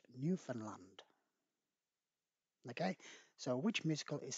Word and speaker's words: Newfoundland: is set in gander newfoundland now it says newfoundland but you don't pronounce it like that it's actually pronounced newfoundland okay so which musical is set in gander